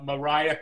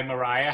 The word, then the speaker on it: Marya: and somebody new uh mariah cazoon hi mariah how are you hello everyone am i pronouncing your name right it's maria maria i'm sorry and mario